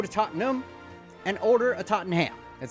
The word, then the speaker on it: Tottenham: As a fat American, why would you not emphasize the ham? I would like to go to Tottenham and order a Tottenham.